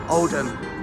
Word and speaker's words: Oldham: from piglets old ham oldham oldham road and and for you foreigners that probably don't even watch my videos we don't pronounce the h oldham lovely old building